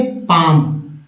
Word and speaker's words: palm: जैसे देखिए PALM, क्या पढ़ेंगे इसे, पाम। क्या पढ़ेंगे, पाम पढ़ेंगे, लोग पाम पढ़ देंगे तो गलत हो जाएगा।